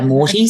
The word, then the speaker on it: Moity: So it wasn't more, even though it was Morty, it's spelled Moity, Morty.